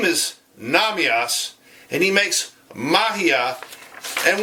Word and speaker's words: Nahmias: the name of David Nam EOS and David it's funny because his name is Nam EOS see this here this is how it's spelled this is how it looks his name is Nam EOS and he makes magia